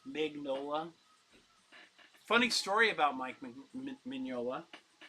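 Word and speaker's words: Mignola: I've been saying his name wrong for years. Magnola.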